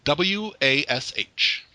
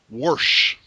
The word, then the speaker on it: wash: most not most but a large number of people will put the letter r in there worsh i'm going to wash the clothes okay where are you getting the r from w-a-s-h yeah warsh no i i know oh